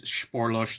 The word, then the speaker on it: Spoorloos: blew it yeah I I looked it up on Google one day I'm like I have to know how to pronounce this damn movie and uh yeah so it's it's sporos there are a lot